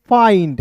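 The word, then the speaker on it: find: तो इसका उच्चारण आइंड के रूप में करेंगे तो हो जाएगा दोस्तों फाइंड।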